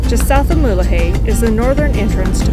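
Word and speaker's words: Mulegé: Rosalia until we reach mulahay yes I finally learned how to say it right just south of mullahey is the northern entrance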